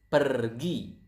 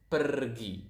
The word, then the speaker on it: pergi: So as you can see here, we pronounce the R quite clearly. So it is kind of like Spanish. If you guys speak Spanish out there, I think you will notice that Indonesian pronounce the R quite similar to the Spanish language. To the Spanish. So it's pergi.